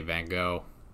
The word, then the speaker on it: van Gogh: I wrote down was vengo vengo vengo for whatever you guys tried putting the pronunciation that like Dutch pronunciation in in like the comments and stuff and I'm I'm just gonna say van Gogh hmm so we started